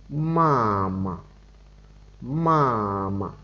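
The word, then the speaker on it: 妈妈: Tiếp tục, từ mẹ là ma ma ma ma, thanh ngang là thanh một nhé. Các bạn để ý chữ ma ma chúng ta đọc nhẹ ở cái chữ ma đằng sau bởi vì nó không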